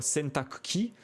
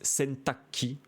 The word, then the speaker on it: 洗濯機: Donc là, on voit sentakuki, à savoir que les Japonais bien souvent disent sentakki parce que c'est plus facile à prononcer.